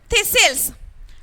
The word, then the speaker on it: thistles: Okay, so thistles. But I pronounce as thistles. I didn't say thistles. Did I say thistles? Why? Because here the T should be silent.